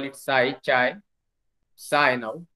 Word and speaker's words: psi: they call it psi, psi now, psi, actually P is silent, and then omega.